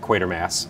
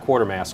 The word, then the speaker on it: Quatermass: and that is qu quater mass and the pit it's pronounced quater Mass not quarter Mass quater Mass but you wanted to